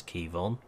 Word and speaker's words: Quivogne: few people be wondering how you pronounce that is Kevon so we were assured